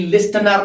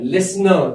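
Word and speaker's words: listener: क्या बन गया, हम जी लिस्टनर नहीं पढ़ते हैं, लिसनर। क्या पढ़ते हैं, लिसनर, क्योंकि इसका जो टी होता है मित्रों वो हमेशा साइलेंट होता है।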